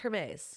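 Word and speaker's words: Hermès: can't picture it's pronounced Hermes Hermes I wish you would have like why is Jeremy well because I knew it wasn't Hermes herpes it's weird the H is like okay silent um don't worry don't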